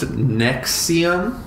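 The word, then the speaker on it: NXIVM: called it's okay so it's pronounced nexium it's NX IVM nexium is a multi-level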